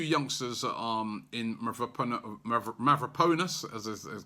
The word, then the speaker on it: Mavropanos: You know, we've kept the 2 youngsters in Mavropanos, as correct pronunciation, and also Rob Holding.